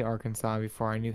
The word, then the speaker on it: Arkansas: friend who just found out that Arkansas is pronounced Arkansas like at the end of this what were they saying it as Arkansas oh my gosh which I mean fair enough